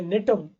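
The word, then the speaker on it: Gnetum: लेकिन अगर देखें एक्सेप्शन की भी बात करें तो जिम्नोस्पर्म का ही एक एग्जाम्पल है नेटम, जिसमें जी साइलेंट है, जी नेटम प्लांट है।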